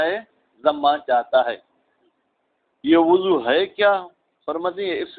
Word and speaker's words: وضو: وضو فرماتے ہیں وضو واو پر ضمہ دے کے آپ کو پڑھنا ہے، اور ضاد پہ تو آٹومیٹک ہی ضمہ آئے گا.